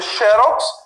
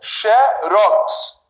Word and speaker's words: xerox: A pronúncia agora vai ser aqui, com a sílaba mais forte, na última. Em vez de eu dizer xerox, eu vou dizer xerox.